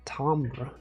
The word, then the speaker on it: timbre: Does it not simply like, because like this interval is one note, but then like not pronounced like the wood, it is timbre, but why would they spell it like that?